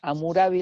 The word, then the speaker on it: Hammurabi: Y hubo dentro de la historia de Babilonia ya un rey llamado Hammurabi o Hammurabi, pero es Hammurabi la pronunciación.